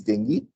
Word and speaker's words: dengue: Some people call it dengue, but the pronunciation is dengue, which is caused by the Aedes aegypti mosquito,